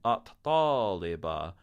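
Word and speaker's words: الطالبة: Then we have al-amil, the worker, and at-taliba, the student. The letter ta swallows up the L in alif lam as well.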